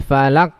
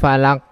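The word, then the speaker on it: فلق: contoh cool a'udzu birabbil Falaq velg maka ini adalah bacanya tidak tepat dengan benar harus dinampakkan sifat huruf akhirnya itu Qalqalah tadi al-falaq Oh balla kok bukan valak valak baik seorang Ice lagi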